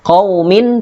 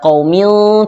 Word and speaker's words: qaumin: Mim dibaca jelas, qaumin, tidak qaumil, tapi qaumin had.